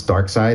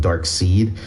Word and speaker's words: Darkseid: But I was thinking, you know, some people mispronounce Darkseid and call him Dark Seed, and I thought, like, ooh, what if I name this guy Sharkside?